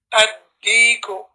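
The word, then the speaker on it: الديك: Ad-deeku. Ad-deeku. No need to say al separately and then deek after that.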